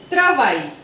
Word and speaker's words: travail: Now, the point number 22 says that if A-I-L come together, the sounding will be I. If A-I-L comes together, the sounding will be I. For example, détail, détail, travail, travail.